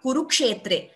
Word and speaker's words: कुरुक्षेत्रे: से धर्मक्षेत्र विशेष धर्मक्षेत्रे similarly it's नॉट कुरुक्षेत्र इट्स कुरुक्षेत्रे this is very clear